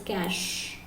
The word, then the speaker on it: cache: So actually the pronunciation is not cache, it's cash.